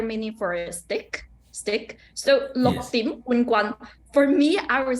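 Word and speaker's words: 六點半棍: So lok is number 6. Lok. Dim. Remember that is a raising tone. It will be dim.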